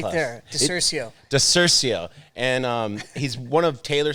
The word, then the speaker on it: DiCiurcio: DiCiurcio.